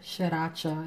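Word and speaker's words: Sriracha: Shaka shacha I'm sorry shacha is really three syllables but I'm going to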